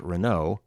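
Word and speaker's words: Renaud: post dispatch reporter josh renau and i think that's pronounced at r-e-n-a-u-d confirmed the coal county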